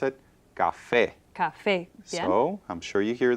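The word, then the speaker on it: café: the actual stress is on the last syllable so it's Cafe Cafe so it does need an accent right so a word that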